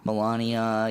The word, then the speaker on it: Melania: relationship with Melanie or whatever her name is Melania you know I prefer the American pronunciation and just we look at these and